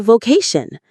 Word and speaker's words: vocation: It is found in discovering our true vocation. Let's savor this beautiful and important word. Vocation. V kun. Vocation. The stress lands squarely on that middle syllable.